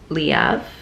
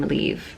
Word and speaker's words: Leav: september love by lang liav for a second i almost pronounced her name believe and she she has said it many times that that is not how her name is pronounced amazing poetry book love